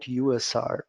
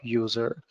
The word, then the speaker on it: usr: Unix shareable resources so I better recommend you to call it USR instead of user user might confuse others